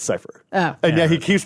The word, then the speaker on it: Cyphre: they feel real well he pronounces it like all sort of French and stuff yeah and then and Robert DeNiro corrects me he's like no it's cipher yeah he keeps pronouncing